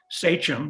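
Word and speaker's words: sachem: Many of you who know have your Mayflower history down know that he was the sichum, that's how it's pronounced, of the Wampenog tribe.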